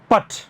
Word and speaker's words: put: उस हल्के से हिट को आप कहते हैं पट। इंग्लिश में उसे क्या कहते हैं हम लोग, पट। PUT पुट होता है, बट PUTT पट होता है। तो सही प्रोनाउंसिएशन तो पुट और पट है, लेकिन जो यॉर्कशायर डायलेक्ट